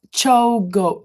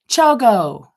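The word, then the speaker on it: ChiaoGoo: Lisa said, Chiago is pronounced Chogo. Chogo? Oh, Chogo.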